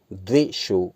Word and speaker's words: द्विषो: रूपम देहि जयम देहि यशो देहि द्विषो जहि, दा में वा लगा हुआ है यहाँ, द्विषो, इसका उच्चारण द्विषो हो जाएगा।